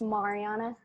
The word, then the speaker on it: Mariana: It's actually pronounced Mariana.